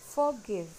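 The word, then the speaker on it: forgive: Now next is फॉरगिव, ये भी वही पंडा है, इसमें भी हम आर को साइलेंट रखेंगे और इसका सही प्रोनाउंसिएशन बोलेंगे फॉरगिव, फॉरगिव।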